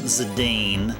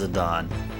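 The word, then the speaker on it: Zidane: I used to call him Zadane, but the way to pronounce his name is Zadon.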